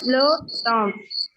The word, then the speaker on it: temple: Le temple. Le temple. Le temple. EM is pronounced as om. Om. It will be om.